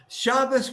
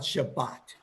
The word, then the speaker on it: Shabbos: the sound of the old ashkenazic pronunciation of the prayers yes shabbos was always shabbos to him you never heard him talk about shabbat and all of them